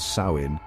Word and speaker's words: Samhain: That's right, long before trick-or-treating and pumpkin spice lattes, the ancient Celts were celebrating Samhain, pronounced Samhain, right here on the Emerald Isle.